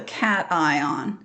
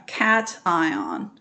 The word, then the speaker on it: cation: transfer that's called the cation i know it doesn't look like that's how you would pronounce it but it is a cat ion it's almost they almost